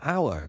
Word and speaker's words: hour: For example, we say an hour because the h is silent.